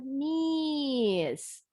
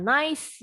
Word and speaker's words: niece: Bahasa Inggrisnya niece. Bukan nice ya, kalau nice baik atau merek tisu. Niece bacanya.